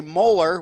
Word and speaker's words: Moeller: That's for, Moeller, which sounds like the tooth molar, but it's spelled Moeller.